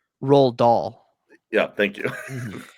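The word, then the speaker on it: Roald Dahl: you pronounce his name r doll yeah thank you no you forgot the L it's Ral DOI it's but I saw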